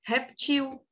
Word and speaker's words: reptil: Mas também é correto tirar esse acento do E e se pronunciar reptil. Vocês sabiam disso? Reptil tá super correto.